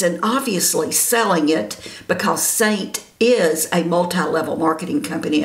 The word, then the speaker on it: Seint: saint now saint and it's pronounced saint like s-a-i-n-t but it's it's spelled